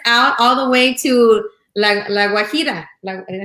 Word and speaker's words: La Guajira: You can hear us out all the way to La Guajira.